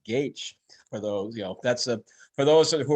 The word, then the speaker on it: Gaich: And remember, that's how his last name is pronounced, Gaich.